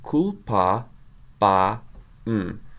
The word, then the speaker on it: culpabam: So culpa, ba, m. Culpabam. Notice the stress accent is on the a.